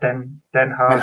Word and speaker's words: ten Hag: Have you discussed the Ten Hag. Is that how you say it? Den Hag. So just imagine you're about to cough up a big greenie. Yeah, give it one of those.